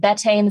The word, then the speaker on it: betaine: stomach acid there are ways to supplement this betaine is my favorite it's a beet derived product it's an acid stomach acidifier so it's called betaine spell v-e-t a-i-n-e everyone always asks me what